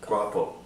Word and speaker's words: guapo: Guapo. Guapo. It means handsome. Guapo the gecko. Guapo. Guapo. Guadalupe, like guapo.